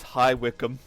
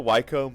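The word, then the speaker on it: High Wycombe: bis bister which is spelled bice but it's pronounced bister uh and the second one was high wickum which I I'm used to wcom but it's it's highwickum feral figs [ __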